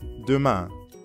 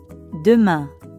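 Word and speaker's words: demain: sounds a lot like the ending of bian now you practice repeat after me ma duma great job now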